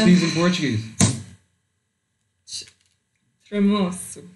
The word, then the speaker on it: tremoço: Do you know how to pronounce these in Portuguese? Tremoço. Tremoços.